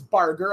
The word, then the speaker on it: Barger: man in Jay Barger I have corrected on on the pronunciation of his name it is Barger as the next pitch